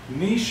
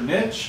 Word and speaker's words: niche: All right, we have habitat, niche or niche. I'm gonna pronounce it niche, but you can pronounce it niche.